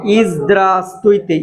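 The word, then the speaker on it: Здравствуйте: 2 ভের কোনো ভের উচ্চারণই হয় নাই, ঠিক আছে?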